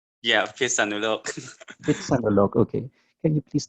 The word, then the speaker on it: Phitsanulok: Did I pronounce it correctly? Phitsanulok. Yeah, Phitsanulok.